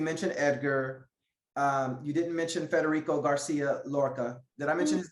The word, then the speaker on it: Federico Garcia Lorca: You mentioned Charles, you mentioned Edgar, you didn't mention Federico Garcia Lorca. Did I mention his name? Did I pronounce his name right?